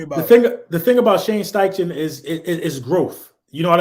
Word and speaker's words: Steichen: Steichen, that's how you say it, offensive coordinator.